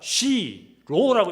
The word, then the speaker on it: 시로: 실로라고 읽는 것이 아니라 시로라고 읽어야 돼요. 시로.